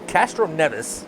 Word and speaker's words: Castroneves: minute thank you so castroneves is the correct pronunciation of his last name glad i did that